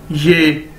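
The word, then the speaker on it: 也: उसके बाद हमारे पास नेक्स्ट वर्ड है जी ये, वाई ई ये, इसको ऐसे प्रोनाउंस करेंगे, और इसका मतलब है आल्सो, बी,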